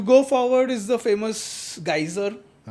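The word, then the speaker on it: Geysir: You go forward is the famous geyser. In Icelandic it's just pronounced geyser.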